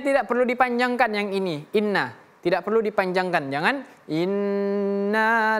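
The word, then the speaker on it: إنّ: Di sini huruf nun ini tasydid ya, nunnya tasdid. Jadi ditahan ya inna inna jangan kelama ee jangan kecepatan ya jangan inna tapi inna ladaina.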